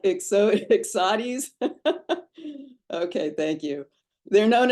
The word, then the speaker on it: Ixodes: So the Ixodes ticks, is that how you pronounce it? Sounds like Ixodes.